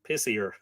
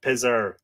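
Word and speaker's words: Pisear: is the poison Spear of pessir p-i-s-e-a or pissier apologies apparently it's pronounced taser so I won't say pissier again I just did it is the poison Spear of Pizer the King of Persia it is irresistible in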